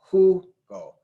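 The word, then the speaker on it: jugo: and it is there Hugo who go stress the second to last syllable That's Where It's At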